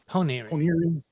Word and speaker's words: Ponyri: It's almost like 3 syllables, but not quite 3 syllables. It's like 2.5 syllables. So Ponyri.